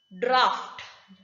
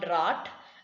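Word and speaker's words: draught: second rule still says in certain cases g h assumes the sound of f f draft d-r-a-u-g-h-t draft it is not drought it is graft cuff when you have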